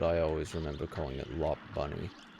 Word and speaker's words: Lopunny: Batman it could have been the the Joker lopunny got a little bunny he pronounces a good I don't know about what like the actual pronunciation is supposed to be but I always remember calling it lop bunny La Pony I don't know why I did